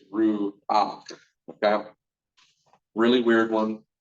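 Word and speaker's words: רוּחַ: So ruach, and so you're going to add that ah before you give that ruach. It's one of the only words we're going to pronounce the vowel before the consonant. R-U-A-C-H is the way you pronounce that. Not ru-ka, it's ru-ak.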